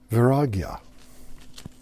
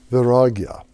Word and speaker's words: Vairagya: And this is called, and I want to pronounce it correctly, Vairagya. Vairagya.